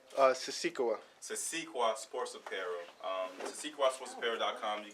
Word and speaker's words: Sisikawa: Siskawi? Sisikawa.